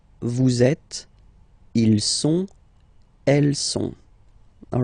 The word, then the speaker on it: sont: il, plural form, okay, ils sont, final T not pronounced, ils sont, elles sont, okay, ils sont, elles sont.